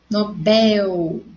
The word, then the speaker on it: Nobel: ou nobel e olha vamos pronunciar nobel nobel então ela não é acentuada é aquela menina tem nada ninguém em cima oxítona então a sílaba sorte bel eles são recém-casados olha